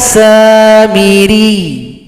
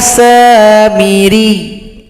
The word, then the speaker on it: Samiri: Huruf ya yang tasydid disukunkan, huruf yang berada sebelumnya tasydidkan atau tekan ke huruf ya. Ya Samiri, ya Samiri. Satu ketukan, tidak boleh panjang, satu ketukan saja.